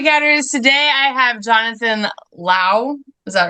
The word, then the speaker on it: Lowe: hi floppy cats today I have Jonathan Lao is that right you got it okay I